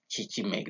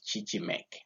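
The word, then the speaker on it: Chichimec: Now, this one, it was founded by this Chichimek. Chichimek, that's how I pronounce it. You can make your own pronunciation there, but as for me, I take it Chichimek.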